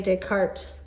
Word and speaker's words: Descartes: his name was Rene Descartes you do not pronounce the S at the end there and what we call